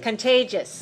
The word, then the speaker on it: contagious: me I'll say contagious contagious three syllables and it stressed on the second contagious and owe us is